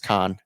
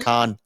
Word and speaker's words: Cannes: Yeah, but I think the f French pronunciation is con that you could be right in that.